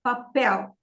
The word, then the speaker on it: papel: a house so uh generally every Portuguese word is stressed on the before last syllable the before last syllable unless it ends with l are r or Z okay l r z uh I don't know if you know the meaning but I will give you some words some examples okay for example the word papel papel means paper and papel is pressed on the second syllable because it ends with an L so l r and